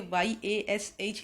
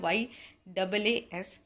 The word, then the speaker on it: Yaas: सो ये लोग कुछ लोग इसे गलत प्रोनाउंस कर रहे हैं, उसे गलत तरीके से लिख रहे हैं, उसे YASH लिख रहे हैं जबकि सही वर्ड है YAAS।